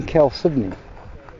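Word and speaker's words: chalcedony: oops okay shiny very neat why the name Kel Sydney I don't know okay it just I don't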